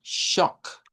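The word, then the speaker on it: chalk: Y junto al eraser, entonces estaríamos ahora hablando de la shock con CH y una O corta. Shock. La L con la K, y esto nos va a servir para Sir, esta.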